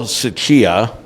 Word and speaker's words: Tsuchiya: partner of the week uh because uh Carl suchia proper pronunciation good is a partner helmuth and Johnson